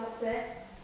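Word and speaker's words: יפה: Yafeh. Yafeh. Yafeh. Very good. Caught that the pay did not have the dogish. Therefore, it receives a F or a PH pronunciation, not the P.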